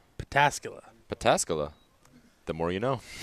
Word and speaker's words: Pataskala: Hold on, how did you just pronounce that? Pataskala? Pataskala.